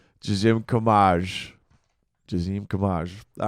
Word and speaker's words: Gezim: Do you want me to pronounce it the way it's supposed to be pronounced in my in my parents' native language or in English? Parents' native. Gezim. Gezim.